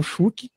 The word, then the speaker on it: Schuck: Spotify, né, até pelo meu nome mesmo, Schuck. Esse Schuck se escreve S-C-H-U-C-K, tá?